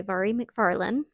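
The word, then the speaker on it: Mhairi McFarlane: So I'm glad I did that, let's say, because this book, You Belong With Me, by Mharee Mcfarland, that's how her name is pronounced, Scottish girl, apparently, was not very clean, not very good content wise to me.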